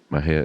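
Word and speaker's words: Mexia: theater 923 East Main Mejia Texas Mahia is spelled m-e-x-i-a our ZIP code is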